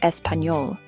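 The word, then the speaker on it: español: A common Spanish word with this letter is espanol itself, which is pronounced espanol.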